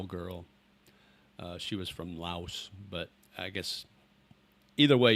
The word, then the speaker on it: Laos: I've never been to Lao or Laos. Either way you want to pronounce it. I always heard it was Laos. The country is Laos. And then if you talk about the people, it's Lao.